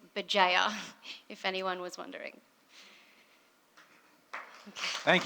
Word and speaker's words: Bugeja: going to stop talking the way you pronounce my last name is BA if anyone was wondering